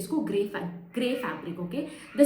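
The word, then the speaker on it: greige: Specifically हम बोलते हैं इसको gray fabric. Okay, the spelling is little bit like GREIGH, but it is pronounced as gray, so it is called as gray fabric.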